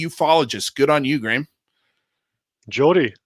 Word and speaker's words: Geordie: Not many Gordy ufologists. Good on you, Graeme. Jordy, even. Jordy. Or I said Gordy. I didn't know what I was pronouncing.